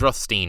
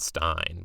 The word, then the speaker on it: Rothstein: It's Rothstein, not Stein.